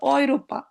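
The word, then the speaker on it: Europa: এ আর উ একত্রে থাকলে বলে অই, অই, কি বলে অই, যেমন অয়রোপা, অয়রো, অয়রো মানে হলো ইউরো।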